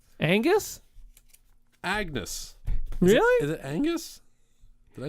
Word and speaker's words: Angus: yeah Agnes tell us his name is Agnes Yeah right Angus Agnes really the Angus